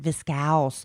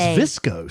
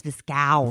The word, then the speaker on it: viscose: I found out that's how you pronounce it, viscose, from bamboo. Oh, I thought it was viscose. I know, but they said it's viscose. Viscose.